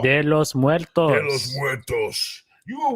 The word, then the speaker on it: de los Muertos: De la Muerto. De los Muertos.